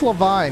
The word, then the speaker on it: Levine: Actually, I think it's Levine because they said Justin Levine made everyone say his name wrong. Rather, Adam Levine. So I think it's Justin Levine, as we were corrected.